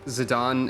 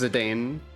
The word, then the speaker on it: Zidane: at zidan's weapons also I think zidon is the official way to pronounce it right I used to think it was zidane but there I